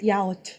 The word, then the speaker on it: yaourt: Yaourt. Yes, I actually remember. They taught me the right way to pronounce everything in French, and Wait, it was hold on.